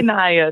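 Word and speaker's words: Nya: You said Bambacity, but you can say Naya. Naya B. Naya B. And Naya is spelled N-I-A.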